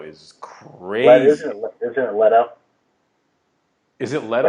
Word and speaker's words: Leto: Leto is it Leto I believe it's Leto wow well Jared Leto is sorry not not trying to uh no no that boy on here no I really am embarrassed that I've been pronouncing it Le Jared Leo but shout out to